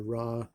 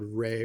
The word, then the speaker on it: Ra: and um i'm just i'm gonna call the sun god rey because i think that's a more accurate pronunciation even though raw is the more well known in the west pronunciation um so anyway the